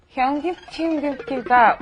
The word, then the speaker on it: 현금지급기: 현금지급기가 어디 있나요? Okay, let's practice that pronunciation before we pass.